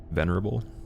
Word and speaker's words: venerable: Venerable? Sort of pronounced with the same emphasis as memorable.